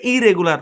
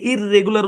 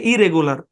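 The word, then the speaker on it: irregular: নিয়মিত ইরেগুলার মানে অনিয়মিত এখানে একটা জিনিস মনে রাখবেন একই কনসোনেন্ট দুইবার আসছে এখানে একটা কনসোনেন্ট ধরে উচ্চারণ হবে আমরা অনেকে এই শব্দটাকে ইররেগুলার উচ্চারণ করি কিন্তু না এপ্রোপ্রিয়েট হচ্ছে ইরেগুলার একই কনসোনেন্ট দুইবার থাকলে একটা কনসোনেন্ট ধরে উচ্চারণ করতে হয় শুদ্ধটা কি ইরেগুলার ওকে ঠিক আছে চলেন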